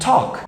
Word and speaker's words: talk: the way pronunciation here you're not going to pronounce the l here in the words walk and talk for example you're not going to pronounce the l you're going gonna say walk and talk okay it's easier than